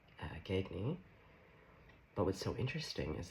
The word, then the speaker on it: Gagne: So, a psychologist who's a diagnosed sociopath, her name is uh Patri uh Gagny, I always want to put the G, but she pronounces it gagy.